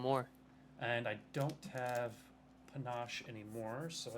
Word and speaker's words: panache: It's Panache.